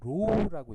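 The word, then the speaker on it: ρ: 여기 P처럼 보이는 거 있죠? 요거 로우라고 읽는데요.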